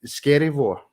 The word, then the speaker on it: Skerryvore: out yeah it's scary scary War yeah as easy as that that's not pronounced scary and it sounds like it's scary I'm good man I'm